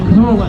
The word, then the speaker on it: Kohler: A lot of them had an engine called a Cola engine in, and that's not Coca-Cola as in the stuff we drink. It's spelled Kohler, single cylinder petrol engine.